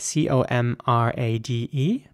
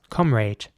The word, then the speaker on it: comrade: next word is spelled c-o-m-r-a-d-e and the British way of saying is what would be comrade with an a sound fluence comrade and the American way of saying this will be comrade here's an example for